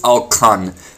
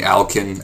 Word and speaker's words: Alkan: You doing good, Alkan? Yeah, uh-huh, I'm doing good, uh-huh. By the way, that's how you actually properly say my name. It's Alkan. Most people, most of my friends just call me Alkin, no, they don't call me that.